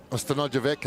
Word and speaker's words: Stanojevic: Stanojevic, and it's not the soft C.